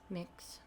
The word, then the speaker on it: Mx: or MX, which I don't know how you pronounce that. MX. Mix.